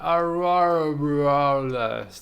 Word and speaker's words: Aurora Borealis: Aurora Borealis.